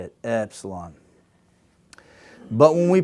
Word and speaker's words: epsilon: this is the letter epsilon, and this we're talking about the tongue, and it's near the bottom of the mouth, the base of our mouth, epsilon.